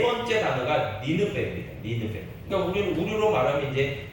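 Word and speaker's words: נינוה: 니느베. 그러니까 우리로 말하면 이제 니느웨인데 이것을 히브리어로 발음하면 니느베입니다.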